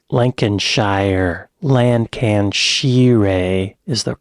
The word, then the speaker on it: Lancashire: He was born in 1965 in Middleton, Lancashire. Lancashire. Lancashire is the correct pronunciation of that.